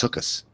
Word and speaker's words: Sukkos: I think down here when I go to the deli, it's pronounced Sukkos. Sukkos, yeah. Okay.